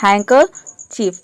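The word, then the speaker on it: handkerchief: next है हैकर chip अब इसमें देखिए हैकर यानी कि जो र आ रहा है आर आ रहा है इसको र प्रोनाउंस नहीं करना यानी कि इसको साइलेंट रखना है इसको बोलना है हैंकर चीफ यहां पे डी साइलेंट है और इसमें बीच में जो आर है वो भी साइलेंट है हैकर चफ मतलब होता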